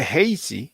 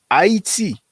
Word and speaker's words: Haiti: Now, if people say Tainos, Arawak, or even Haiti, and we say Haiti in English, that's where we pronounce it, but it's Haiti.